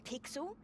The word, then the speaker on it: Pixel: name's not weird guy i'm pixel it's easy to remember because it rhymes with pickle i'm faster i assume